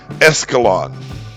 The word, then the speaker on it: Escalon: In any case, the name is pronounced as if it were an English word, with no hint of any Spanish influence. It's just Escalon.